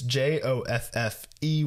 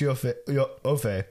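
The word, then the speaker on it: Joffé: It's Joffe with an accent on the end.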